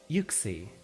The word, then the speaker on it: Uxie: isn't it usually oh it's an acronym of uma gold lewis moment and pixie so it's uxie okay i can get behind